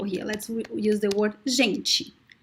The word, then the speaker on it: gente: Let's use the word gente. Gente. Gente. So the E sound is very weak at the end.